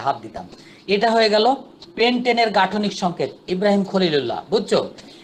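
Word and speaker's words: pentane: তো এখানে চেনার জন্য এন কথাটা, অর্থাৎ পেন্টেন উচ্চারণটা এন এর মতো হচ্ছে, চেনার জন্য যে এখানে একক বন্ধন অর্থাৎ কার্বন কার্বন একক বন্ধন হতে হবে।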